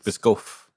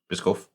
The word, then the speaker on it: Biscoff: It might be pronounced in a softer way, but that's how I I pronounce mean, it.